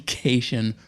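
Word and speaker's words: Kashian: casino, and she said, it's Jackie Cation rhymes with vacation, which, hey, great hint.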